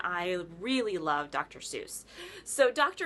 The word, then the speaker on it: Seuss: Seuss so dr. Seuss or actually dr. Joyce was actually how he pronounced it a little known fact that a